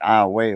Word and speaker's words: Iowa: of me uh is in between Kinder and iway uh which iway is a little town right outside of Lake Charles spelled like Iowa the state of Iowa but they pronounce it Iowa over there right so that little plan I